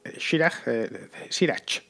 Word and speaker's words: Schirach: Schirach, pronunciado en español. S-C-H-I-R-A-C-H. Schirach.